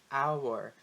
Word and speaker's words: hour: And in the other case, an honor, an hour. Quando eu falo essas palavras, né? Honor, hour, eu não pronuncio o H. O H ele é silent, ele é mudo.